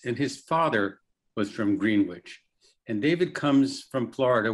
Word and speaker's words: Greenwich: Of course, Greenwich isn't pronounced Greenwich at Hampshire College, it's Greenwich.